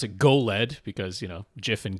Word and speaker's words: JOLED: have to pronounce It Go lead because you know GIF and GIF this is spelled with a J but got to pronounce it with a hard G sound I think I mean